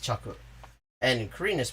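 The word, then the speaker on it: 着: is the traditional chinese the reading that is derived from chinese is pronounced chaku and korean is pronounced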